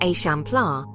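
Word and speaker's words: Eixample: The result was the example pronounced a champla which means expansion in Catalan.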